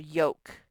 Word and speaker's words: yolk: in thumb and then lk sometimes just makes one sound and as in the word yolk so lk makes the k sound like in an egg